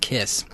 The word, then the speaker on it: Kaees: It is spelled Kaees, but it is actually pronounced Kiss.